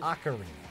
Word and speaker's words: Ocarina: Ocarina.